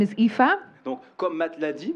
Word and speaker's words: Aoife: That is spelt very strangely. Alors, ça s'appelle d'une façon très étrange. A-O-I-F-E. A-O-I-F-E. Très bien. Très bien. In Irish, those letters make the sound Aoife.